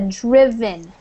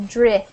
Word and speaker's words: driven: I just want to point out to you that's a driven. Okay. Different than, yeah, with a short I sound instead of drive, like driving, but this is driven.